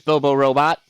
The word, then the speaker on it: Bobo Robot: All right, so this is Bobo Robot, or as I like to call it, Bobo Robo. You know, T is silent. keep the whole rhyming scheme going.